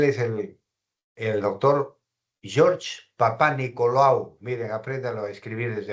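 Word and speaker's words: Papanicolaou: No, no es lao, es papá Nicola o U. Así se debe de pronunciar, papá Nicolau, perdón.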